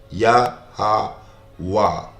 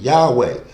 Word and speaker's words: Yahweh: It's Yah, ha, wah.